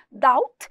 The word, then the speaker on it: doubt: Doubt, escreve doubt e fala doubt.